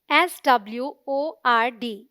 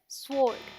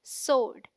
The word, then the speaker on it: sword: जो वहाँ है ही नहीं, because the W is silent. So it sounds like sword, as in Lord. So the right pronunciation is sword.